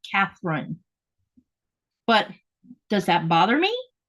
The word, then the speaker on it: Katherine: wrong um over here they don't have a th in their articulation of words so it's cine not Catherine but does that bother